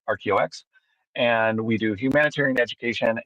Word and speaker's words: RKEO-X: company called RKOX ROX it's phonetically it's ROX and we do humanitarian